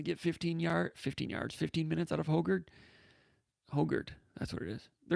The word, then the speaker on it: Hoggard: It's Hogard. Konendijk pronounces it Hoggard, and that's incorrect. And Konendijk's got me messed up on that. It's not Hoggard. It's Hogard.